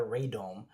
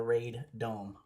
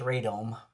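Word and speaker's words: radome: It's called a ray dome. It's r a d o m e. It's called a raid dome or raome. It's usually pronounced ray dome.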